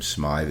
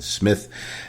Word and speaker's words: Smith: burke sharon smith and apologies to sharon because i sometimes pronounce her name smythe is sharon smith makes her appearance as